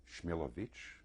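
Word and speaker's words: Shmilovich: the Survivor is Sam smellovic originally pronounced schmilovich the interviewer is Simon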